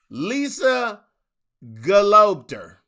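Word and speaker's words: Lisa Gelobter: Lisa Galopter.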